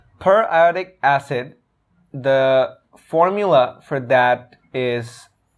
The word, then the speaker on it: periodic acid: acid shape staining um there is a common mispronunciation that i'd like to address per iotic acid the formula for that